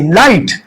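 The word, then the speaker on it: light: लाइट। लाइट में जी और एच दोनों क्या है? साइलेंट है।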